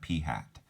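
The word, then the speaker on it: p̂: you actually pronounce it it's like a hat on top of the P you actually pronounced that P hat that's your sample proportion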